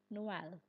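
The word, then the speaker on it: Noël: The trema stands between them and says, "No, you must pronounce both of us." Take the word for Christmas. Noel Noel.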